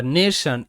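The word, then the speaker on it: nation: বা নেশন, NA নে, TION শান, নেশন।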